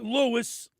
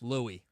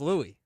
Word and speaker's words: Louis: LEWIS. NO, that's not Lewis. Louie. It's L O U I S. I know it's it's pronounced Louie.